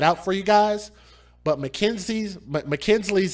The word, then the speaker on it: Makynslee: But Mackenzie's name is spelled Makynslee.